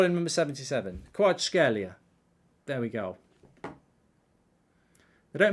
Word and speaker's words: Kvaratskhelia: Kvaratskhelia is apparently how you do it.